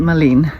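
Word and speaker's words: mullein: saw a lady picking mullin i think so you pronounce it marlene m-u-l-e-i-n flowers and it reminds us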